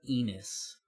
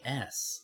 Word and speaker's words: Ennis: Well, it's Ennis. Like, there's no reasonable way it's pronounced Enos unless Garth is playing the funniest joke on all of us and insisting that Enos is how his surname is pronounced.